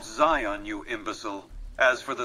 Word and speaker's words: Zion: ] ARS where in cion Valley can I find the survivalist rifle Mr house and sorry for my mispronunciation welcome back sion's Valley can I do for you it's called Zion you imbecile as for